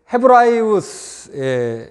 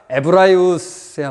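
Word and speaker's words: Ἑβραίους: 그래서 원래 이제 헤브라이우스, 여기 오미크론과 엡실론이 있어서 그 우 발음이 길게 나죠. 그래서 에브라이오스야 맞을 것 같은데 헤브라이우스가 아니라 에브라이우스야 맞습니다.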